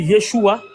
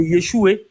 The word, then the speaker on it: Yeshua: Yeshua en hébreu et Yeshua en araméen. Mais le son final n'est pas en fatigue, il n'est pas muet, on le prononce. Le A final ou le E final est prononcé.